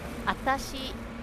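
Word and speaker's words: あたし: Atashi is you drop the first W sound.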